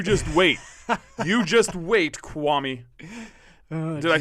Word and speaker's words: Kwame: kwame brown yeah and you're saying kwame wrong it's kwami kwami akwam kwame it's